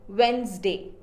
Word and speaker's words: Wednesday: Do you pronounce it as Wednesday or Wednesday? It is wrong. It is Wednesday.